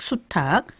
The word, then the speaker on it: 수탉: 그러면 암탉, 수탉, 암퇴지, 수퇴지 이렇게 발음이 되네요. 그러면 이제 개가 캐가 되고 닭이 이제 탁이 되고 또 돼지가 퇴지가 되는 것이 모두 다 이 히읗과 관련이 있다 그런 말씀으로 들리네요.